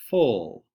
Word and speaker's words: full: Our next trick word is the word full, full. And this one's kind of a trick word because that U does not say It says a different sound. It makes the ol sound. Full.